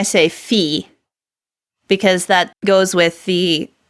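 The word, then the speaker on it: φ: like an F so we'll pronounce it like the F in food so the aspirated fee I.E PA is as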